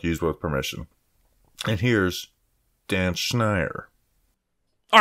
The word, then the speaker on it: Schneier: with permission and here's dan schneier all right welcome back to the show and now joining us we have dan schneier from the big blue banter podcast not schneer not schneider what's up what's a